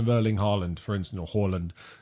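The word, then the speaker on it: Haaland: berlin holland for instance holland as you're meant to pronounce it supposedly so how horland has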